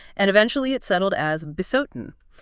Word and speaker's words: Bisotun: eventually it settled as Besotin. The article specifically notes it's pronounced as one word.